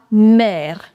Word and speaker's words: mer: Now R is coming at the end, so you will pronounce it.